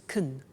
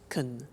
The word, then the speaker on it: can: she can speak spanish now notice the pronunciation of can becomes kun she can she can speak spanish he can play tennis we can speak german all right so can becomes con when we speak now